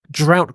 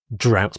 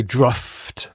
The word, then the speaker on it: drought: fields we often face droughts many regions face droughts that's a very common collocation so just note the pronunciation this o u g h letter combination in English does have a variety of pronunciations if there was no